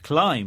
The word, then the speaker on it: climb: Well, climb has a silent B at the end and knee starts with a silent K.